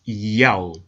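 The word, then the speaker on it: ΙΑΩ: In order to help the reader pronounce God's name correctly, they transliterated the Most High's name with the Greek characters iota, alpha, omega, written in Greek, pronounced Yao.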